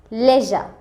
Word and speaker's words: leisure: যদি আমরা UK pronunciation অনুযায়ী দেখি তখন হবে লেজা, লেজা। এই যে ASURE এর জন্য যে সিম্বলটা এখানে দেয়া হয়েছে IPA সিম্বলটা, এই IPA সিম্বল দিয়ে হয় তালব্যস্য এবং বর্গীয় জয়ের মাঝামাঝি একটা সাউন্ড, লেজা, লেজা, লেজা।